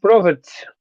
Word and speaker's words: profit: Yeah, it's not pro, but pra.